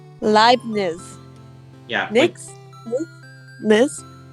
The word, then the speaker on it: Leibniz: Leibniz. Leibniz. Yeah. Nix? Niz? It's like German, so like think of the word live, but replace the V with a B, and just imagine a T before the Z.